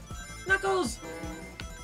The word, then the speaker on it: Knuckles: It's Knuckles! The K is silent!